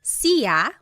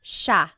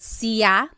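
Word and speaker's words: siya: It looks like it should be pronounced sa, but it's actually pronounced sha sha. There are some regions in the Philippines that might pronounce it sia, but for the most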